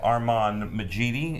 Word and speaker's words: Armand Majidi: We have Armand Majidi, and that's how you pronounce that.